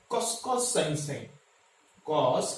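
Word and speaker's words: cos: Okay, तो कॉस कॉस, कुछ बच्चे इसको खस खस खस खस बोलते, खस खस नहीं है ये, this is not, this is कॉस कॉस।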